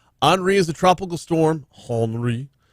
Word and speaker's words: Henri: Henri is a tropical storm, Henri, no, you don't pronounce the H, that is in the Atlantic right now.